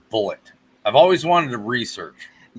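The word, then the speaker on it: Bulleit: on bar rescue and they always pronounced it bullet i'll go with john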